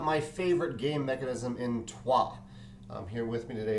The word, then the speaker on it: Troyes: he knows nothing about twah so he'll probably be leaving us in a second there he goes um twah which is spelled t r y s is a worker placement